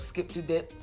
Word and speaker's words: Skip 2 Dip: Well, listen, we got this very special Dembow artist by the name of Skip to Dip.